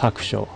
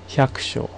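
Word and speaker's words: 百姓: And I believe it's pronounced hakusho. Hyakusho.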